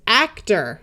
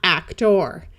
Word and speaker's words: actor: clear long O sound, at the end of a word with two syllables or more, it tends to sound more like So this word is actor, not actor.